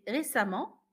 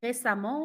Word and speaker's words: récemment: Vous allez remarquer que ici j'ai dit récemment, fréquemment, suffisamment. Même si ça s'écrit E, ça se prononce à la nuance de A.